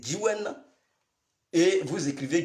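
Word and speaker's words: Djiouen: Donc, Gyiwen s'écrit, Gyiwen s'écrit D-J-I-O-U-E-N. C'est Gyiwen.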